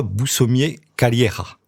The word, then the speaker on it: Boussommier-Calleja: Déjà, vous appelez Alexandra Boussomier-Calleira. Très bien dit. J'ai bien prononcé ? Oui. Calleira, parce qu'il y a des origines espagnoles.